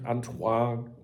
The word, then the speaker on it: Antoine: This headline highlights Antoine, or how he pronounces his name, Antoine Griezmann. I don't think he pronounced the N in that.